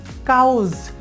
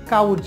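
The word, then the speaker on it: cause: রয়েছে এরপরে রয়েছে কাউস আমরা এটাকে বলি কাউস মানে আমরা কাউস বলি না যে কাউস এটা বলি কাউজ আমরা নর্মালি এটা সঠিকটাই বলি কাউজ কিন্তু এটা সঠিক উচ্চারণ করতে হলে শিয়র উচ্চারণ হবে খ তাহলে কের উচ্চারণ খ মানে শিয়র উচ্চারণ খ হলে এটা হবে খাউজ তারপরে দেখুন এটা বলি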